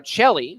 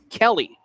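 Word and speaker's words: Cheli: C-H-E-L-I for Chelly, like cello with an I, not Kelly.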